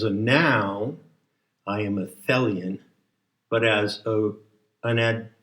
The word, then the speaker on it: Thelion: says fellian t-h-e-l-i-o-n and it rhymes with helian and it must be